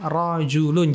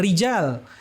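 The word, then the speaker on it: رجل: Ingat ya bacanya rojulun. Jangan rijal. Rijal itu para lelaki. Banyak orangnya. Tapi di sini rajulun.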